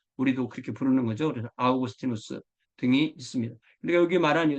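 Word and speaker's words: Augustinus: 이렇게 하고 뭐 키프리안 이렇게 말하는데 요즘은 원래의 발음대로 불러주는게 국제 표준입니다 그리고 히의 아스 스 그니까 어거스틴이 하지 말고 영어로는 어거스틴이 이게 라틴어 그 그들이 부르던 이름으로 우리도 그렇게 부르는 거죠 그래서 아우구스티누스 등이 있습니다 그까 여기 말하 세 도시가 특히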